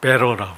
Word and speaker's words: better: 베트라는게 아니고 영어 발음은 베러라 그래.